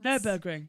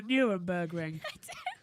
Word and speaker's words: Nürburgring: Nürburgring. Yeah. You call it the Nuremberg Ring. That's a completely different thing.